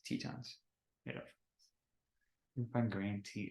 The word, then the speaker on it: Tetons: Grand team or Titan it's not Titan it's Tetons you can find green